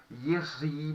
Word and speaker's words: Jiří: Na verdade, ele em tcheco seria Jiří. Eu não vou pedir que vocês vão aprender assim a pronúncia correta tcheca, né? Eu me contento se vocês vão me chamar de professor Jiří, né?